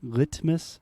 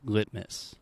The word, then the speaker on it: litmus: So instead of saying litmus, I am saying litmus. Litmus. Perfect. But I prefer litmus. Yeah, both are totally correct. A stop T will give you kind of a more natural accent, perhaps, but they're both fine.